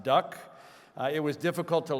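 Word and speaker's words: DUKW: built by General Motors, an awkwardly spelled du kw, pronounced duck.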